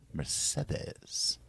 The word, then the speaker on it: Mercedes: Do you like the pronunciation, the soft D there? Mercedes.